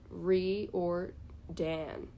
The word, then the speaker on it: Riordan: niche things i apologize riordan is pronounced reared re or dan like dan ryordan rick rick um oh i'm